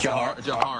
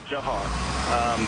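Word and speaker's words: Dzhokhar: I can't believe it is pronounced. Jahar. Why is that Jahar? As far as I know, that was his name. I mean, we all addressed him as Jahar.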